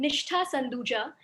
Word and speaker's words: Nishtha Sanduja: much and just a slight correction to the pronunciation of my name before i begin so i am nishta sanduja and i am working as a partner under